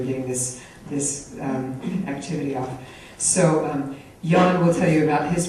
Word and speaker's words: Nhan: It looks like Nhan, but it's pronounced Nhan, but that is very opposite of his personality.